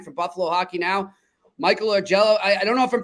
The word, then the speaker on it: Augello: ask our man for Buffalo hockey now Michael or Jello I don't know if I'm pronouncing your name right no you got it